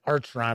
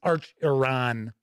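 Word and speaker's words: Acheron: I think I said I said archeron I think it's Arch Iran is how it's pronounced so big thanks to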